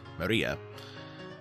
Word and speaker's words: Maria: name is written like this of course it's pronounced maria the third character looks like a cross which